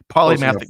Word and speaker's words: polymathic: exhibiting what is called polymathic behavior. You think I'm pronouncing that wrong, Greg? No, that's right. Okay. That's right. I wasn't sure if it was a soft second syllable, like might be Paula.